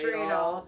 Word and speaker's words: Stradal: Stradal.